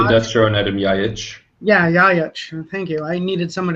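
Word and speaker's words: Ljajić: Yeah, Jajic. Thank you. I needed someone to pronounce that for me.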